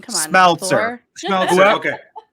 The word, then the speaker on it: Smeltzer: How do you pronounce it? Schmeltzer. I'm not great at name pronunciation. Come on, Smeltzer.